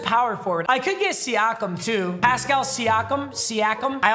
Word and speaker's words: Siakam: Hey, Alexa, how do I pronounce Pascal Siakam? I pronounce that Pascal Siakam, but I'm always working on how I say things and I'm Pascal not right.